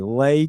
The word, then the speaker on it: Letitia: Lay. It's not Lee. It's Lay. Lay Tisha.